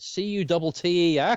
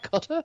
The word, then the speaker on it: Qatar: Cutter, Qatar?